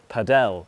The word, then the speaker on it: padel: No one can agree how to pronounce it. This is padell or paddle tennis.